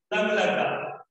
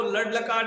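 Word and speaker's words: लङ् लकार: अंतिम वर्ण है अंग, दैट शुड बी प्रोनाउंस, इसको आपको क्या बोलना है, लंग लकार। आप इसको लड लकार नहीं बोल सकते, ये डन होकर के अंग है, तो इसका प्रोनाउंसिएशन, इसका उच्चारण आपको लंग लकार के द्वारा करना है।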